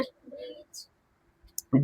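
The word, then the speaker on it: bridge: ब्रिज क्या पढ़ते हैं ब्रिज डी पढ़े क्या ब्रिज यहां पे ड कहां लिखा है नहीं ना ब्रिज क्या पढ़ते हैं ब्रिज बात समझ में आई तो ब्रिज, सैंडविच, वेडनेसडे, हैंडसम। बात समझ में आ गई? यहां पे क्या होता है? डी साइलेंट होता है।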